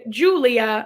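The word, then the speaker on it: Giulia: friend emma berman played julia which if you're looking at the spelling of julia it's it's very italian it is spelt it is spelled g-i-u-l-i-a and then the only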